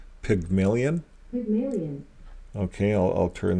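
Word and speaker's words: Pygmalion: didn't say that right here's how you say it pigmillion pigmon okay I I'll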